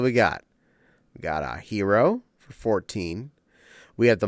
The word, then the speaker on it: gyro: we got in the uh hero or for those of you who don't know how to pronounce it correctly gyro line and um stood